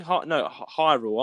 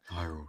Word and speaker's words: Hyrule: He didn't pronounce Highland right or something. Hyrule. I'm saying it wrong there. Hyrule, yeah. Hyrule. He said.